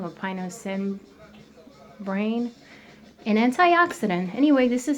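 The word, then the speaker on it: pinocembrin: And is the only food that we know that contains pinocerbin. So if I pronounce it wrong, Pino, C as in cat, EM, B as in boy, RIN. Pinocerbin or pinocerbin, an antioxidant.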